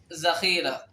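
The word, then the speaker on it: ذخیرہ: وبعد ذلك وذال أيضا لا ينطق مثل الذال العربي، بل ينطق مثل زي ذخيرة. لا نقول ذخيرة بل نقول ذخيرة.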